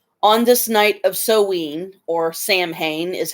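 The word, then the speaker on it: Samhain: the words you say on this night of sewing or Sam Hayne is how it's spelled s-a-m-h-a-i-n but it's pronounced so when on this night of sewing I Mark your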